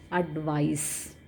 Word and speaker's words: advice: So how we are supposed to pronounce this? This advice is advice.